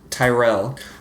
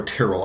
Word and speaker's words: Tyrell: so she is Marjorie Tyrell yeah either Tyrell or trell I've heard it pronounced both ways I call it Tyrell and she is is